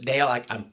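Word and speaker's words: Dáil: The first Dale is is it Dale? I can't pronounce it. The first doll.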